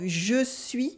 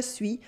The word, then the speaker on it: je suis: In informal French, the pronunciation of je suis for I am, je suis, often becomes suis, suis, suis.